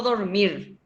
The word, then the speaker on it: dormir: lleva uno acento gráfico dormir como yo digo yo digo dormir o dormir donde se carga la voz en la última sílaba a sílaba entonces qué